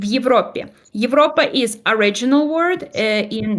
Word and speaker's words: Европе: I'm going to give you 2 words, Европа, в Европе. Европа is original word in nominative case, and then в Европе is in Europe, which is locative case or prepositional case, and it's when you've been to Europe.